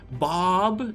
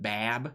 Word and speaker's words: Bab: other side of that bob is like the correct way of pronouncing it i i don't speak arabic so it's probably not a hundred percent correct but bab is not technically correct nerf hank two o